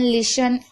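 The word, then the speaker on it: listen: शब्द के आखिरी में टी ई एन हो तो टी साइलेंट रहेगा। जैसे कि ऑफन, लिसन, यहाँ पर आप देख रहे हैं लिसन, आपने सुना होगा, लिसन का मतलब होता है सुनना।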